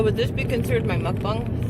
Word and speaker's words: mukbang: south like me but she calls it mukbang or a mukbang i forget how she got mukbang is how it's pronounced but it's and she's